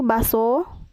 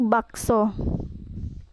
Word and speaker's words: bakso: Contoh salahnya yaitu baso, tidak menggunakan K, sedangkan yang benarnya yaitu bakso.